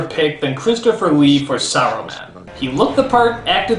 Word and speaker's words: Saruman: is for some reason they stopped pronouncing the S and simply call him Arrowman. Why? Is the S suddenly a bad word? Only because Aruman is kind. It should have been his friend Aruman. How long since Aruman? Saruman. Saruman, you idiot! It's pronounced Saruman! The S isn't silent!